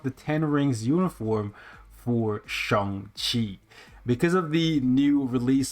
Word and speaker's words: Shang-Chi: referred to him as Shang-Chi because that's how it's read in English. However, because of the movie, everybody's just changing the way how they pronounce his name to Shang instead of Shang, right?